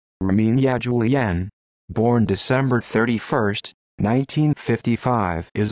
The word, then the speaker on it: Erminia Giuliano: armenia giuliano italian pronunciation rominia julianne born december 31st 1955